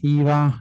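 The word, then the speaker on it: Hyvä: essere utilizzati più storefont IVA io lo pronuncio così si dovrebbe dire viva ma non mi piace IVA Breeze uno degli ultimi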